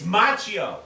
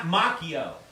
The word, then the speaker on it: Macchio: set in Hawaii and it's machio not Macchio everything you have said